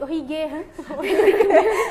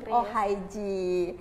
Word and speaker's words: Ohigee: jangan ya De ya Bukan ohige Ya bukan ohige jadi kayak aneh sekali Den Heh makanya sebenarnya bacanya itu Oh dasar mungkin ya karena lidah Indonesia jadi apa yang ditulis begitu cara di baca sebenarnya ini cara bacanya dalam bahasa Inggris berarti Oh haij oke Berarti tadi e